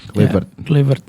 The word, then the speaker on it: Kluivert: Gue kalau ngelihat jejaknya Kluivert, cara pronounce-nya gitu ya, Kluivert. Tahu Kluivert.